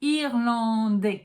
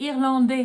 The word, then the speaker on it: Irlandais: And you're not allowed to pronounce the S. I know, in French we put letters that we don't pronounce. I'm sorry, I didn't create the French language. All I can tell you is that if there was an E, you would be allowed to pronounce the S. But there's no E, so you don't pronounce it.